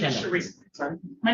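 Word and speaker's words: Charisa: My name is Sheresa. Sorry. My name is Sheresa. I'm the property man. You can spell that, please.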